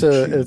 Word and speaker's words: mochi: I don't know how to pronounce that. Mochi. Uh, It's mochi.